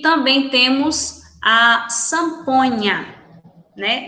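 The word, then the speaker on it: zampoña: E também temos a samponha, né? Não zamponha, lembrando que o Z em espanhol pronunciamos com som de S, né?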